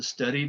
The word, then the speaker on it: studied: So studied with a D, guided with an id, loved with a D, hated with an id.